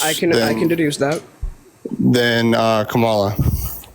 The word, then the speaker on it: Kamala: It's Kamala. Comma is a word in the English language. You can say Kamala.